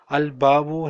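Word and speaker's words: الباب: al-lam is silent and there are some words in which lam is not silent. Al-babu here, lam is not silent. So, we'll just read it al-babu. But in at-tajiru, lam is silent. So, we will put a shadda on ta.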